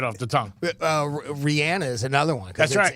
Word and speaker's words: Rihanna: Rihanna is another onez it's actually Rihanna not Rihanna but everybody calls her Rihanna and I think because that H that's in the middle right I mean it gives that impression that it's pronounced that way um but uh there's